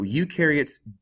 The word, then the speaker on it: eukaryotes: take a look at eukaryotes you rhymes with do so eukaryotes do have membrane bound